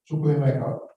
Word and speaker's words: Chukwuemeka: That's how you pronounce it. Chukwuemeka, Cameron, and Trevor Forrest.